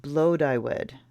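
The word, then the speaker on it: Blodeuwedd: Okay, let's see how she's pronounced. Pronounced Blodywed. Blodywed. Blodywed. Blodywed. It's Welsh.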